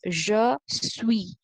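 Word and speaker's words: je suis: the first one is je sui okay i've told you already the last letter is silent so here the s is silent so this is pronounced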